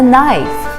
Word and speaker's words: knife: in the kitchen a knife we don't say the k the k is silent knife knife i always sharpen my